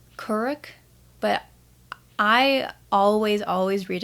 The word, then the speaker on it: Kuruk: in this book specifically i know that it's pronounced curric but i always always read it as kuruk so avatar kuruk that's just how i'm gonna